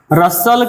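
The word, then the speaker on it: Russell: जिसके लेखक कौन है, बर्ट्रैंड रसल, या इसको रसेल भी कहते हैं, बर्ट्रैंड, लेकिन आप लोग सही प्रोनाउंसिएशन रसल ही होता है, बर्ट्रैंड रसल।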